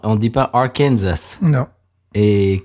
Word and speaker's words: Arkansas: Oui, il y en a un, on prononce le S à la fin, et l'autre, on ne le prononce pas. Oui, c'est-à-dire que Arkansas, on dit pas Arkansas.